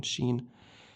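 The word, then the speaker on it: شين: This is the second one, sheen. She, okay? With the like the vowel on the bottom, she. Okay, good job.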